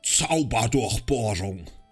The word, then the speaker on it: Zauberdurchbohrung: Zauberdurchbohrung. We actually say it like that, that's proper German pronunciation.